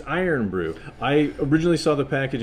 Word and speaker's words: Irn-Bru: but soda so yeah so yeah and it's iron brew i originally saw the package and kept mispronouncing it as earn bro stop calling iron brew and the only reason